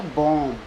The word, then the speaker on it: bomb: जैसे BOMB, देखो बी से ठीक पहले एम है तो इसमें बी साइलेंट रहेगा, तो इसे क्या पढ़ेंगे? बॉम्ब। जबकि कई बच्चे इसे बॉम्ब पढ़ देते हैं, अर्थात बॉम्ब गलत पढ़ते हैं, बॉम्ब पढ़ेंगे इसे।